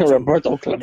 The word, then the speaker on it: Roberto Clemente: That, yeah, it would be some shit like that because of Roberto Clemente. And that's exactly how you say it. Roberto Clemente.